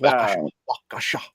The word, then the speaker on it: Waukesha: No, it's pronounced Waukesha.